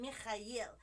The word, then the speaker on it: Mikhail: I call him Mikhail because that's the right pronunciation of his name.